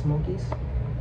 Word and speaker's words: smo_okiez: like this s-m-o underscore o-k-i-e-z on Instagram it's pronounced Smokies I'll check out my clothing man y'all should